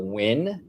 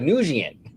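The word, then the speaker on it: Nguyen: And now her real name is Tila Wyn. It's Vietnamese, right? And Wyn though is spelled N Gen. Now back then I didn't know that's how you say W. It looks like Nian.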